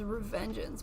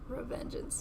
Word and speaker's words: Revengeance: Paint the blade red like Splitstream Sam's from MGR Revengeance. Oh, I butchered that one. No, that was perfect. I thought it was Revengeance, but I'm like, these letters aren't lettering.